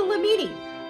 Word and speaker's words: Lamini: Your first cousin, who is the smallest, actually bigger than you guys because y'all tiny, is called the Llamini. Rhymes with martini.